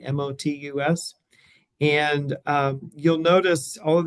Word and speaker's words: Motus: Modus is a large network of towers across the Western Hemisphere. And here's the website. So it's Motus spelled with a T, Motus.